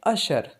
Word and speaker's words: usher: ये word you से start हो रहा है लेकिन इसका प्रोनाउंसिएशन है अशर, USHER।